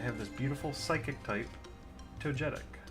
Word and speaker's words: Togetic: this beautiful Psychic type Togetic. Togetic? How do you say it? Togetic or Togetic? I've heard it both ways. Like jet, like J-E-T, or get. Togetic.